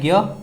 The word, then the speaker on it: ज्ञ: यह आपको ज प्लस इया से मिलकर बना है ज्ञ। तो इसका उच्चारण हिंदी में ना इस तरह से किया जाता है ज्ञ। तो परंपरा से उच्चारण इसका भिन्न हो गया हिंदी में, तो ज्ञ इसको बोला जाता है और इसको संयुक्त छ बोला जाता है।